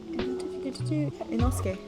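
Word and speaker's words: Inosuke: struggles and then you have enosuke so i pronounce it enosuke and um he is a very stereotyped like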